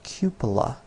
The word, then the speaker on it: cupola: how to pronounce it it's cupola like Cupid as in valentine's day cupid Cuba when I set